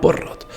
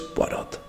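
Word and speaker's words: Poirot: hombre al que llaman Porrot, que no tardamos en darnos cuenta de que lo pronuncian mal y que es Hércules Porot, entrando así en el libro y aplicando el orden y el método a este.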